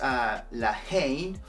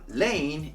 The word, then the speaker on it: La Haine: And the title of the movie is La Haine, or Lane if you pronounce both words like all together.